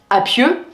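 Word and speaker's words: A'pieu: c'est la marque U qui se prononce si on le francise à pieux donc APU c'est cette marque là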